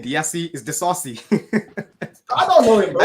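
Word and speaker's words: Disasi: Yeah, he just started off and he realized he didn't know how to say his name and he just went Desai. It's Axel Desasi.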